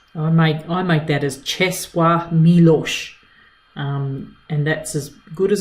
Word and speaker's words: Czesław Miłosz: Czesław Miłosz. Czesław Miłosz. I make that as Czesław Miłosz, and that's as good as I can do with that.